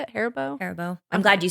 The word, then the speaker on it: Haribo: watermelons that is that how you say it Haribo Haribo I'm glad you said it first I